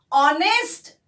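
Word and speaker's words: honest: पर देखिए बच्चों, ऑनेस्ट जो हम उच्चारण करते हैं उसमें हम ओ का उच्चारण करते हैं, एच का उच्चारण नहीं करते। एच यह साइलेंट आता है और इसीलिए हमें ओ को पकड़ना है।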